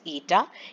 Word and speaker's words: eta: like this okay so it should be pronounced as ETA ETA is equal to